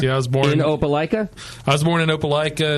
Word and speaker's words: Opelika: You got to help me pronounce the name of the town in Alabama that you're from. All right, it's Opelika.